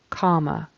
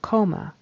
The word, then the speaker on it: comma: comma comma Comm comma that should be pronounced with the vowel short o a a comma comma and he's pronouncing it more like a long o coma coma so comma is